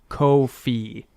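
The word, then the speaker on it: Ko-fi: do is drop the I am told it is pronounced Kofi uh which is sort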